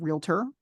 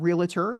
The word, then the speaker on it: realtor: For example, they had a big campaign to understand the pronunciation of the word realtor. It is not realtor. It is 2 syllables.